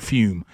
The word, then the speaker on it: Fum: a great product called fume now it's spelled fum but they pronounce it fume okay uh but here's